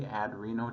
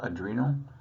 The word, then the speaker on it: adrenal: about the pituitary and the adreno I say adreno just to stress that it's on top of the renal glance it's pronounced adrenal uh and you'll just always hear me mispronounce